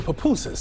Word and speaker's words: pupusas: me I'm so excited yes so we're making papusas did I say it right you said it